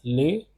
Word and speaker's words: les: This will be pronounced as les. Because of the liaison rule, this will get connected here. Enfants.